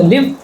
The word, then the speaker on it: live: world leave this world so live and leave are different in this word this